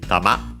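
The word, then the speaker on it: 玉: fundamental meaning is ball the accent is uh on the ma okay on the last syllable tama then we have the object particle o tama.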